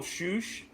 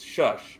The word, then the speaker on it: shush: So the whole shoosh thing, which by the way, I'm like, it's shush. Why are they saying shoosh? It's always been shush.